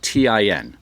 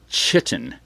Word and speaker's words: chitin: That's Chitin. And you want to pronounce it chitin, but that's not how you pronounce it. It's chitin.